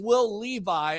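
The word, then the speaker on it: Will Levis: I checked it out it is Will Levi I had to check because I was saying the name wrong and I'm not going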